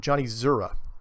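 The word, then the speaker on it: Czura: Thanks again, Johnny Zura. It's C-Z-U-R-A. The C is silent because it's Polish.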